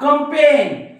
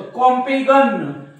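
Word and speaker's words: campaign: बघा foreign foreign हा कंपेन कंपेन या जी च्या काही नाही म्हणजे जी चा उच्चार होत नाही आणि जी चा उच्चार केलं तर कॉम्पेगन डिझायगन सायझन रिझायझन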